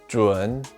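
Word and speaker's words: 准: fly away to warmer climates this character is pronounced juan and means standard it is used in these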